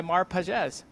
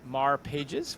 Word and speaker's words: Mar Pages: it at the outset so many people say it Mar Pages which if you're English that it is how it looks but um hey you